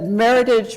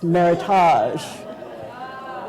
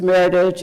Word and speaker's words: Meritage: it's like you said that Meritage rhymes with heritage and we all know that it's frenched it's Meritage yeah yeah so we we wrote back that no actually its Meritage and and here's the